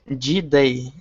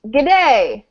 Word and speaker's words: g'day: is link for uh g day it means uh good morning oh how are you um so it's pronounced g'day um you say the g sound and then day so it's like g'day